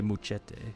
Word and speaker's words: Muchetti: You almost have to say muchete. Almost. Muchete. You gotta say it with that little hint of like Spanish to it, somewhat.